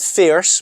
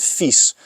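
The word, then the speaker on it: FISE: And then you had the FIS, so not FIRS, but FIS. And FIS is a big competition in French. And big ramps, if you don't know it, Google it, because it's really impressive. FYSE, that's how you spell it.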